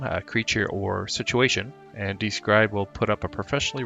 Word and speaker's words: Dscryb: For those who don't know what Describe is, and that's spelled DSCRYB, it's a website resource